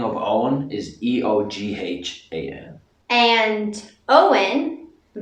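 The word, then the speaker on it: Eoin: How do you really pronounce it? In Irish, it's Owen.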